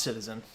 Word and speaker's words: CTZN: sticky that's true but it's pronounced citizen so i don't know